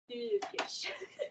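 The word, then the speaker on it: völkisch: And then the O is like an E. Okay, if this is an F. Folkish.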